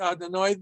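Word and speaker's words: אֲדֹנָי: So we always pronounce it Adonai. These 2 vowels, it's a complicated explanation, but they come from the word Adonai, the actual word.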